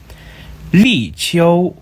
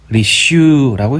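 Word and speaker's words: 立秋: 태양이 환경 135도에 위치하고 리치오, 리슈라고 읽습니다.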